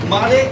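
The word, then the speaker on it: Murray: তারপর হচ্ছে it should, it should make, M-A-K, make a difference, difference gamalux to মারে and Hague, মা ইউ এর উচ্চারণ আ হবে, মা মাছের আ, মা রে, মা রে, দুজনের নাম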